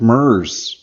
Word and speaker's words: Merz: we have F mer hi hey thanks for pronouncing the last name correctly did I sweet absolutely how does it how does it often mispronounced like Hertz rent-a-car ah I'm glad then